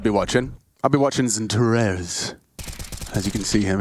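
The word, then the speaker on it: XANTARES: I'd be watching Zentaro's. As you can see him on the replay. I believe there. that is the official pronunciation.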